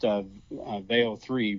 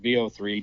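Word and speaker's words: Veo 3: So, it was a it was a fun week this last week because Google introduced Veo3, VO3 depending upon how you want to pronounce it and uh it is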